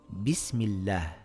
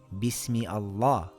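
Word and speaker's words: بسم الله: This reads bismillah. We can't say bismi Allah.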